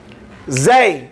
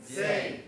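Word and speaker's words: زاي: Zay, say zay. زي. Zay. زي. Zay. زي. Zay, fatha, za. زي فتحة زي. See, the Z sound, the Zay sound in Arabic has a buzzing sound.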